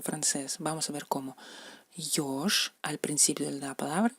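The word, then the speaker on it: ёж: Yosh, al principio de la palabra, es yosh, ¿no? Se lee como yo española, yosh, erizo.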